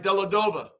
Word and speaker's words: Dellavedova: Michaela Abdullah Dove another Ozzy I think I butchered the name no you had that right dellavedova dellavedova that's right trouba Bean BB yeah and